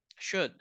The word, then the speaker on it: should: Que es la palabra should, que tampoco suena la L y que se pronunciaría así, should.